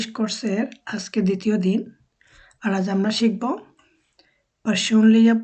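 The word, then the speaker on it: du: ডি বলি যেমন David সুইডিশে ডি কে ওরা আমাদের দর মত উচ্চারণ করে যেমন বাংলাদেশ যে দটা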